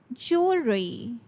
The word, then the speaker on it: jewelry: The next intent word of today is jewelry. There will be no sound of W while pronouncing. It will be pronounced as jewelry.